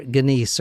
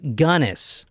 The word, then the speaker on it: Gunness: is it is gunness I might call her gice or Guinness or somethingness but Stout yeah apparently is pronounced gunnis G now she is known as a few